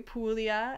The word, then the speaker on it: Puglia: prima tivo di manduria so we have some pronunciations here for you puglia and primitivo di manduria um this dop is